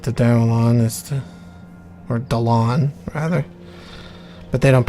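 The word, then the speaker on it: Dalan: Or Dalon, rather. But they don't pronounce his name as Dalon, even though that's his name. They pronounced it as Dallin, because this was voice acted by racist white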